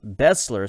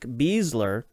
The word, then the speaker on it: Besler: of Matt Besler and we have been pronouncing his name Bessler so I doubt that they pronounce their names differently considering they are related so we'll probably from now on call him Nick bezler and then of course